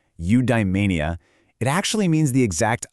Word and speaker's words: eudaimonia: Big Greek word eudaimonia. It's pronounced eudaimonia.